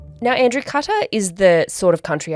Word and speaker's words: Qatar: to be preferred is cutter. So think of it as like a box cutter is the closest sort of thing. So cutter is the one we're going with.